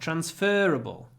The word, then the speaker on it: transferable: this ticket is not transferable transferable transferable so the stress is on uh because it comes from the verb transfer transferable and that's another set